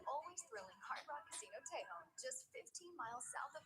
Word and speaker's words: Tejon: It's Tejon. It's not Tejon. It's Tejon. Apparently, we've all been saying it wrong.